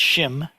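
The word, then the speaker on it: 心: So in the Heart Sutra, when we chant Maha Banya Baramilta Shim Gyong, it's pronounced Shim in Sino-Korean, and it looks like this because it's written as a standalone word, as a standalone character.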